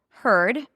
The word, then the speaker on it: heard: Heard. I heard the nose. Heard. H E A R D. Heard. So it's the stir sound. It's an H sound. Then the stir.